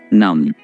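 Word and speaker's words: numb: गया है ठीक है इसमें बी को प्रोनाउंस नहीं करना नम जरासी मारने वाली जो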